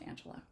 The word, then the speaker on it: Angelia: to pay it so my name remained Angelia um of course pronounced Angela and I would say